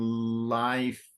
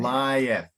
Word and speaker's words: lieth: to pronounce dosed and life but it's due West and lieth yeah so it's separating the the vowel sound so it's lie F